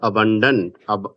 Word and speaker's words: abundant: इसको पढ़ोगे अबंडेंट।